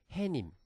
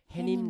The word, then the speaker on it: 해님: 그렇기 때문에 그냥 그대로 수놈 이렇게 읽어줘야 되고 역시 해님도 명사 뒤에 님자가 붙어서 만들어진 파생어기 때문에 사이 소리가 적용이 안 되고 그렇기 때문에 해님. 그래서 저희 전래동화 중에 해님 달님 이러잖아요. 네. 아니고 역시 해님 달님 이렇게 읽어야 되는 거죠.